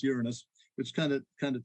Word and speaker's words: Uranus: way they want to but it's generally correctly pronounced Uranus which kind of kind of takes the uh